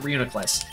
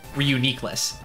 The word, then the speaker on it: Reuniclus: Gen 5 Pokemon Reuniclus, most people pronounce it Reuniclus, is actually pronounced Reuniclus. I think Reuniclus sounds better, but it is Reuniclus.